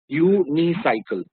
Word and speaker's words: unicycle: When you pronounce U, it is Y-O-U. Unicycle.